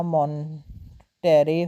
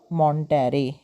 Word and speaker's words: Monterey: And quickly began a relationship with कैरलोटा मॉन्टेरे whom he married in 1929।